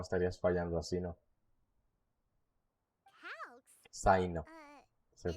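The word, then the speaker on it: Cyno: Te encanta Sino, te tienen que encantar las cartas. Si no, estarías fallando así, ¿no? Calx? Saino. Se Is pronuncia así that?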